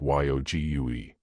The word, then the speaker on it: yogi: He said the various forms of yoga, said Bland in a contrastingly mild tone of voice. Yog shouted more Ward good humouredly. Didn't I tell you that was silent and the word pronounced like YOGUE.